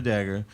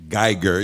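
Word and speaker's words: Guyger: Amber Dagger. She was What? Wow. I need my bell. what's her name? Amber Geiger. I thought it was Dagger. Geiger.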